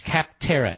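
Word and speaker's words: Capterra: who use kaptara that's kaptara it's spelled like it sounds c AP te r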